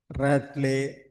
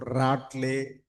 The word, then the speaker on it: Ratle: We can pronounce like Ratley or Ratley.